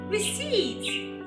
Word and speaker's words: receipt: Some people make the mistake of pronouncing this word as receipt, receipt. Yes, letter P. Some people say receipt or receipt, receipt. No, letter P is silent.